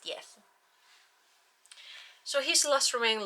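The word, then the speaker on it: d'Eath: I mean, it's got the apostrophe, so I'm trying to pronounce it like that, but it's literally spelled death. But I'm pretty certain it's pronounced Dieth.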